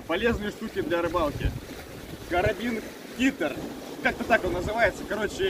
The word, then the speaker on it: Kitter: Карабин Китера. Карабин Китер. Китер. Карабин Кита. Кита или Китер? Ну, R не читается, Китер.